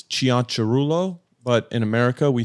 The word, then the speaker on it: Cianciarulo: actually say it okay so the Italian proper way to say it is chian Chulo but in America we